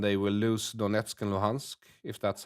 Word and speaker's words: Luhansk: lose Crimea and they will lose Donetsk and Luhansk, if that's how you pronounce it.